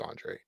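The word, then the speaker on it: Oronde: I just don't understand why it starts with an O and it's pronounced Andre. I that's just what throws me for a loop.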